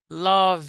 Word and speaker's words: love: The pronunciation is love. Okay. So, you don't say love, you say love. Words that ends in consonants and have an e in the end you remove e you don't pronounce e other words ah my